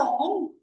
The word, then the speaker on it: poem: This is having two syllables. One is po, second one is m. Poem. The American pronunciation is poem.